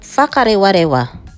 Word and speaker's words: Whakarewarewa: is another geothermal locations which is called WHAKAREWAREWA (WH pronounced as F) and yes there are